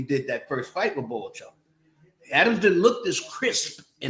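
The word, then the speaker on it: Bohachuk: Boachuk. That's how they pronounce it. Yeah, Boachuk. I say Chuck, but Boachuk.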